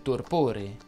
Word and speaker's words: torpore: O meglio, scuotiti dal torpore, che per inciso si pronuncia con la O chiusa.